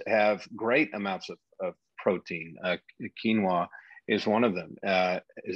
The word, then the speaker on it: quinoa: Quinoa is one of them. Is that right? Did I say that right? Quinoa?